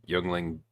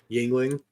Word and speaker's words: youngling: put put your your youngling beers away CU not even they'll survive uh but Yingling no it's in this in this joke it's pronounced youngling anyways so we're going to